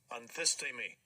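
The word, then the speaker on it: ἀνθίστημι: Now, the reality is, I have right here written down anthistemi, broken down so that I know how to pronounce it. The problem is I would stop looking at the word anthistemi, how I had it broken down, and I would end up saying it incorrectly, anthistemi.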